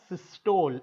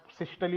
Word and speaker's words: systole: India में word सिस्टोल होता है, तो let's continue with that only. Okay. फिर आप अपने 10th के एग्जाम में जब आपको प्रैक्टिकल में कुछ क्वेश्चन पूछेंगे, आप सिस्टली बोलोगे, टीचर को समझेगा नहीं. ठीक है ना. सो इट्स सिस्टोल he word use करते हैं.